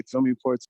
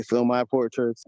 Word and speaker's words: PhilmyPortraits: To me, as far as pronunciation, I hear a lot of people say "Philmy portraits." So I heard you just say "Film my portraits." Yeah. There's no preference, man. You know, like whatever you want to call it, man.